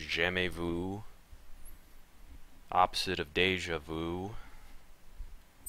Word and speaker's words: Jamais vu: exclusive Mission sham Vu there are pronunciation dictionaries that you can go to to look up French words it's not jamas Vu it's j Vu opposite of deja vu